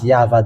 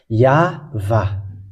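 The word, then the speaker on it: יהוה: Holy Scripture of Hebrew, it is read as YAHVAH. There is no more discussion about that because it's clear. YAHVAH.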